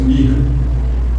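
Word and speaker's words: Mich: O nome do rabino era Mirra, só que a escrita é M-I-C-H. Se for dizer em português, obrigado. A gente vai ler Misha, né? A pronúncia Mirra.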